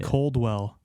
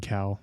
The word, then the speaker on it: Cowell: Mandela maybe he said America's Got Talent Simon Caldwell I thought it was the same it was probably a typo actually or maybe that's just how you say it I've never read it before no it's Simon Cowell they just had a typo Hey Jake good